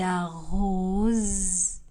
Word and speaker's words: arrose: Il arrose les plantes. Le S du verbe arrose sera prononcé comme Z.